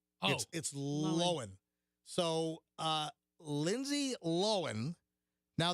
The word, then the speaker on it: Lohan: lohan or lindsay lohan what is the proper way to say lindsay l-o-h-a-n's name it's proper way i've always thought it was low hand it's not hmm no you you got to say it without moving your jaws like lindsay lowell like that no it's not it's it's lowen so uh lindsay lohan